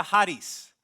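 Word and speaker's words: χάρις: La palabra gracia en el idioma original se pronuncia Haris.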